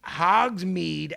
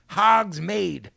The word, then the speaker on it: Hogsmeade: Pablo it's fucking Hogsmeade, MEAD, pronounced Hogsmeade.